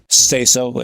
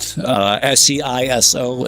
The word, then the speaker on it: Saizo: Saizo is the common pronunciation. That's what it's called. SCISO is the popular pronunciation.